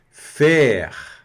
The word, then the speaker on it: faire: Faire. A mais I da E e o R vai pronunciar, porque o E aqui no final está puxando o R.